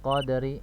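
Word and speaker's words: قدر: Cara membacanya ini disukunkan juga ya. Jadi ada dua sukun. Ya. Dua sukun, huruf yang sukun ya, maka dibaca dua huruf tersebut. Fi lailatul qadr. Ya. Qadr. Ada huruf ro-nya terbaca.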